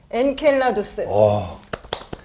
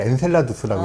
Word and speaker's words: 엔켈라두스: 엔켈라두스. 그러니까 여기서 이제 엔켈라두스라고 하잖아요. 네. 근데 이제 네. 발음에 따라 엔셀라두스라고 얘기하기도 하고 네.